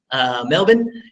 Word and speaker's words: Melbourne: here I'm in Melbourne I learned how to pronounce it correctly Melvin and I've been here for going on a